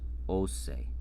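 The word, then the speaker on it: עֹשֵׂה: And so it's telling us to say O. Instead of ah or I, it's O, according to the Masoretes. Osei.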